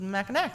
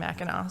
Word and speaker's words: Mackinac: so i was like okay well that one's mackinaw and one that one's mechanic so okay and no apparently it was wrong it was also supposed to be mackinaw so totally my bad